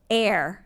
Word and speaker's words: heir: submit this one so air it's spelled h-e-i-r so not like what we breathe air and this is the